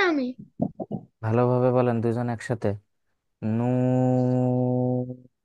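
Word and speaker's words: ن: করতে হবে এবার দেখেন এই হরফটা খেয়াল করেন নুন নুন রাফি আপনার পড়া শোনা যাচ্ছে না কেন রাফি বলতেছি তো আমি ভালোভাবে বলেন দুজন একসাথে নুন নুন মাশাল্লাহ নুনে কয় আলিফ টান হবে তিন আলিফ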